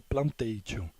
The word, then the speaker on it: plantations: conhecido como hantei tio escreve plantations mas pronuncia-se plantei dion que na verdade é